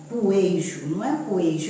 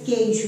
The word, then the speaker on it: queijo: A gente pronuncia esse U? Não, a gente não pronuncia esse U. Na realidade, olha a transcrição fonética aqui, a transcrição fonética é essa aqui, ó, queijo, não é isso? Então, não é poejo, é queijo.